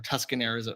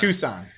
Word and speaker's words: Tucson: So, it's not like Tucson, Arizona, where or Tuscan or Tucan I don't know how to pronounce the name. I got bullied for it last time. Tucson. Tucson.